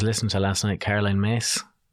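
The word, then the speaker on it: Myss: There was a lady I was listening to last night, Caroline Mace. I used to say her name, Caroline Miss, which is Caroline Mace, it's an American name.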